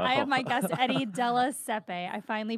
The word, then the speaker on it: Della Siepe: I have my guest, Eddie Della Siepe. I finally pronounced it correctly.